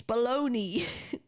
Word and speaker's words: bologna: I thought they were different words because you don't say it. It's baloney.